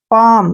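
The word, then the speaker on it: palm: एल एम ठीक है ना एम से पहले फिर क्या आ गया एल इसको फिर छोड़ो पाम क्या पढ़ेंगे पाम जैसे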